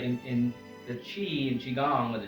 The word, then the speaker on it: qi: and right in the chi and Qigong with a chi and Tai Chi is spelled Qi and it's pronounced c-h-i-chi and that's your vital